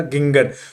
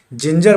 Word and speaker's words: ginger: पहले भी बोलता था, जब नहीं जानता था मैं भी बोलता था गिंगर। तो जब कभी भी जी के बाद आए रहे या ई रहे तो ऐसे जी का उच्चारण क्या होता है, जॉ होता है। तो आज के बाद इसको गिंगर नहीं पढ़ेंगे, जिंजर पढ़ेंगे, जेंडर पढ़ेंगे, जर्म पढ़ेंगे,